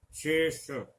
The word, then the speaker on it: शेष: शेष, शेष, तो यहाँ पे मूर्धा में जाकर इस श के उच्चारण में जीभ जो है हमारी दांतों से ऊपर जाएगी, इस श में तालु में रहेगी। यहाँ उच्चारण तालु से हो रहा है, यहाँ मूर्धा से हो रहा है।